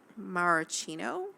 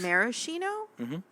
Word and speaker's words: maraschino: go get maraschino cherries maracino maraschino cherries maraschino that's how you say it yes i feel